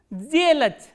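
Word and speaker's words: сделать: So, what happens when a voiceless consonant comes or occurs before the voiced consonant? This voiceless consonant will be pronounced as its voiced counterpart, which is z.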